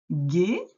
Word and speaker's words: gai: On voit la lettre G avec le U ici qui est muet, mais qui aide la lettre G à faire G.